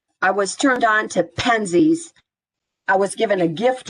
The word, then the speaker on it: Penzeys: And Penzies is spelled Penzeys. Penzeys.